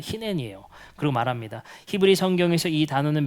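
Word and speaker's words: הנני: 이게 아브라함아 했을 때 아브라함이 히넨이라고 하거든요. 내가 여기 있습니다. 이렇게 발음할 때 히넨이에요.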